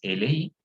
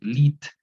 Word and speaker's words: lit: No vamos a decir lit, ¿no? Y lit, ¿no? El lit tampoco, simplemente y li, el li, only, ¿sí?